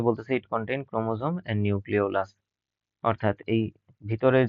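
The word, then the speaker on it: nucleolus: contain ক্রোমোজোমের নিউক্লিয়াস নিউক্লি নিউক্লিওলাস sorry নিউক্লিয়াস না নিউক্লিওলাস এই যে বলের মত জায়গাটা সেটার নাম হচ্ছে নিউক্লিওলাস উচ্চারণটা কি হবে নিউ ক্লিওলাস ওকে নিউ ক্লিয়াস নাকি কিন্তু নিউ নিউক্লিওলাস অর্থাৎ নিউক্লিয়াসের ভেতরেও যেই ছোট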